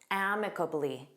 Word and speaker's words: amicably: Let's review amicably. Notice that syllable stress on the first syllable.